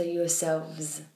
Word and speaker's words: yourselves: us you're saying yourself yourselves but with a V so yourselves so yeah yourself yourself